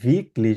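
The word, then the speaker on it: wirklich: এটা ভাইয়া হবে স্পিল্ড জি উইকেন ফুসবাল এটাকে ভিকলিশ বলি আমরা। ভিকলিশ মানে হচ্ছে রিয়েলি। উইকলিশ কি বলি? রিয়েলি ভিকলিশ। ঠিক আছে, উইকলিশ কারণ ডাব্লিউ কে ভে উচ্চারণ করি।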